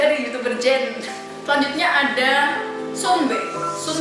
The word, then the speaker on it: 선배: Selanjutnya ada Sunbe. Kalau penulisannya sih banyak orang yang nulis tuh Sunbe pakai U, tapi sebenarnya kayaknya penyebutannya Sonbe gitu loh, Sonbe.